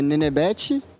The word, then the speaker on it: Nenebete: Bom, como é que pronuncia é Nenebete e foi um apelido de quando eu era criança e acabou pegando, acabou curtindo e é isso.